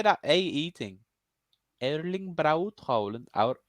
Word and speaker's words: Erling Braut Haaland: Erling Barut Haaland. Barut? Erling. How do you say that AE thing? Erling Braut Haaland.